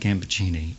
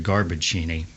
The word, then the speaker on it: Gambaccini: pronounced it right because with a name like ambuccini you always face the possibility of exotic variations I mean I get exotic variations in post I've had Mr Lamborghini or Mr garbachini and so to hear them sing your name pronounced correctly well it was